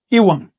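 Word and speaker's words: ihuan: El ligativo I se pronuncia en náhuatl Iwan. Si quieres decir I, tú dices Iwan.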